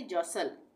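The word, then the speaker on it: jostle: एस टी एल ई तो यहां पर भी एक साथ है एस टी एल ई तो इसको भी हम क्या पढ़ेंगे जसल जसल का मतलब होता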